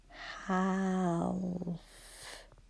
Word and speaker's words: half: But there is a letter in there that we can't hear. A. Ooh. Would be a spelling language. Half.